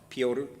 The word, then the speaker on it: Piotr: who's uh that's the he's um polish and that's the polish pronunciation and spelling of the word peter named peter piotr piotr nascrecki so he's